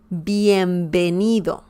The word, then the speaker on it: bienvenido: we don't have that we pronounce b and v just like you would pronounce b in english b as in bell okay when i say bienvenido i'm just using the